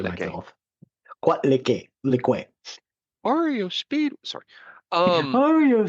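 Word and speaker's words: Coatlicue: I just learned the pronunciation myself. Quatlique.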